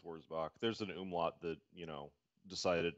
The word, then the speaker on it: Wurzbach: Wurzbach, yeah, probably the German pronunciation with a V. Yeah. Yeah, more of a V sound. Yeah, Wurzbach.